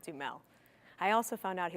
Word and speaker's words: Duhamel: at lip service was find out how to pronounce Josh Duhamel's name. I thought it was Josh Duhamel, but the other people told me it's Josh Duhamel, Josh Duhamel.